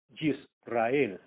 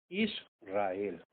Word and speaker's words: Israel: Ejemplo, como no es Yisrael, es Israel.